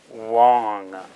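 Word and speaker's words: དབང: The da itself wouldn't be pronounced because it's a prefix. Wa, na, wong. So da-o, even though the da is silent, we must spell it to indicate that that's how the word is spelled.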